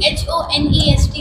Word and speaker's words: honest: Sir, wo spelling to uski H-O-N-E-S-T hoti hai. Okay. Lekin speaking pronunciation mein hum honest kehte hain kyunki H silent hota hai.